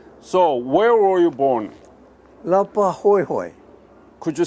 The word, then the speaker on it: Laupahoehoe: Lapa Hoi Hoi. Could you spell it? Laupahoehoe. PA. Lapahoho. Hoi Hoi. Lapahoehoe.